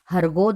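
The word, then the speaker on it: Hurgo: You have to pronounce it as Hargo the great lord understood Gulliver very well.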